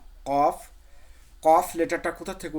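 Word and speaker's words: ق: তাছাড়া এমনি উচ্চারণ যদি করি আমরা, যে জিহ্বার গোড়া তার বরাবর ওপরে তালের সামনে লাগিয়ে দেবেন, কফ, কফ।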